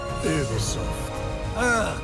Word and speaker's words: Ubisoft: It is actually pronounced Ubisoft. The French. The French.